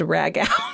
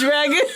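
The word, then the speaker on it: ragout: side of corn ragu that I pronounced rag out. Oh, no. Rag out. And as soon as it came out of my mouth, I was like, that's definitely pronounced ragu.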